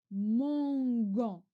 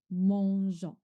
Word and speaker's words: mangeons: We add, je rajoute le E pour la prononciation. Pour la prononciation. Parce que sans le E, je lis mangon, mangon. Je rajoute E, mangeons.